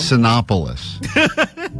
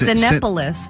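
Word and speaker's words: Cinépolis: Sinopolis. It's C-I-N-E. Yeah, it's like movie. It's Cinepolis. It's not Sinopolis.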